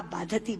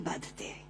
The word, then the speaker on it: बाधते: कष्ट दे रहा है, क्योंकि बाधती शब्द का अशुद्ध उच्चारण आपने किया है। ये शब्द बाधते होना चाहिए।